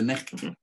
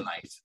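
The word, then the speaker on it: nicht: So it's the necht, it's not the night.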